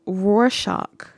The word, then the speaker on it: Rorschach: It was Rorschach.